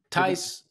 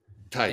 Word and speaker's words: Tice: Tice rhymes with ice. Tice.